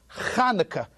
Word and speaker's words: Chanukah: It's not Chanukah, it's not Hanukkah, it's not Hanukkah, it's Chanukah. Now, I know that you can't pronounce the CH because there's no sound of ch in the English language.